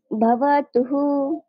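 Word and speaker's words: भवतुः: এরপরে যদি রস্যুকার থাকে বিসর্গের আগে রস্যুকার থাকে তাহলে আমি উচ্চারণ করবো হর সাথে রস্যুকারটা অ্যাড করে দিব, তাহলে হয়ে গেল হু। তাহলে যেমন ভবতুহু ভবতুহু।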